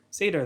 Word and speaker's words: Cedar: be that's absolutely incorrect my name is spelled c-e-d-a-r seder then nice to meet you